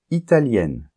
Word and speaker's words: italienne: par exemple italien italienne et là il y a une différence de prononciation puisque italien masculin on entend la nasale un Italien et italien féminin on entend le N la lettre N que on nentend pas pas dans le masculin italien italienne et en plus le